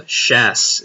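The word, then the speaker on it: Chasse: I'm not sure how long this has been up, but it says uh uh shass is how I pronounce that. The chs is e. It's a shass. Okay. Excellent. Like a chase.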